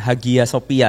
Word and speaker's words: Hagia Sophia: Bacanya jangan Hagia Sophia ya, jangan ya. Itu nggak pro kalau kata Ustadz Felix ya. Karena G di tengah itu nggak dibaca. Jadi bukan Hagia tapi Hagia Sophia.